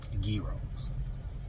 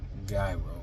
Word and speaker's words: gyros: They were serving gyros. They said it's not pronounced gyro. They said it's gyro.